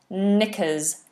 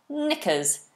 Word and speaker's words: knickers: a lady has knickers now be aware this is a silent k is not present in this word we have knickers knickers so ladies wear knickers